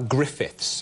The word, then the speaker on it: Gruffudd: And then Gruffudd is G-R-U-F-F-U-D-D, Gruffudd. Yes, that's how you would pronounce it, yes, phonetically, looking yes, at it.